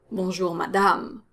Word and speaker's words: madame: my lady ma dam notice that both a's are pronounced the same way they're both strong ass sounds but the second one is stronger it's longer because it's part of the stressed syllable which is the last syllable when you say bonjour madame so it's stronger longer madame the french a sound